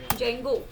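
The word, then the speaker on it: Django: लिए हम यूज करते हैं हमारा फ्रेमवर्क ज्यादातर जैंगो पुष्पों किसको डेंगू कहते हैं बेड़ी उदय लिए साइलेंट होते हैं होता है पर नहीं होता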